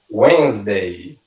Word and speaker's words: Wednesday: Quem diria que essa palavrinha aqui, abençoada, que a gente escreve Wednesday, a pronúncia correta dela em inglês é Wednesday.